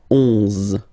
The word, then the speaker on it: onze: 11, okay, so O plus N give you the sound on, onze, onze, okay, final E doesn't exist phonetically, onze, okay, douze, douze,